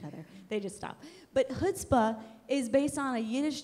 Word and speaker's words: chutzpah: But anyways, other synonyms, if you're still confused what chutzpah, that's how you say it actually. It's like a throat clearing thing, kind of like croissant.